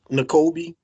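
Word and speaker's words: Nakobe: Now how do you pronounce his name? First name? Nicolby.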